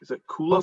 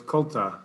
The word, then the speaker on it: Colta: Is it Kula Farms? It's got a T in it, so it's Colta Farms.